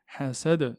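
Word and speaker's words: حسد: Hasad, le del, est une lettre de résonance, donc on doit la claquer, et du coup, hasad, hasad, hasad.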